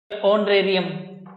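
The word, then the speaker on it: honorarium: ठीक है, इन नाउन्स में एच साइलेंट है, इन सभी नाउन में क्या है, एच साइलेंट है। ठीक है, इसको बोलेंगे ऑनेस्ट, ओ नेस्ट, ऑनरेरियम, ऑनरेरियम ये हो गया, आवर, एयर, एरेस, ये है। देखो कहीं भी एच की ध्वनि नहीं आ रही है, एच का मतलब है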